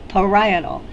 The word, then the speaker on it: parietal: the parietal lobe now that's a word that students mispronounce frequently try saying it parietal the parietal lobe this